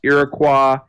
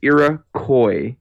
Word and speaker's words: Iroquois: But yes, the civ is not pronounced Iroquois, I get that wrong. or no, not Iroquois. It's Iroquois, like koi fish. Iroquois. You tell me it's not Iroquois? Well, that's There's no S on the end.